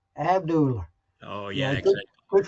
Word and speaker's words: Abdullah: from the Georgia days, and that will be Abdullah. They always yep. put an R at the end of that. Abdullah.